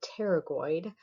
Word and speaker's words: pterygoid: All right, so here we have the medial pterygoid, the P is silent, pterygoid muscles.